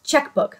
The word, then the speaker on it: Czechbook: like a teal blue, but Czechbook is spelled like Czechoslovakia. I cannot stand the spellings on these OPI nail polishes. They confuse me. So it's Czechbook, like Czech, Czechoslovakia. Can't Find My Czechbook.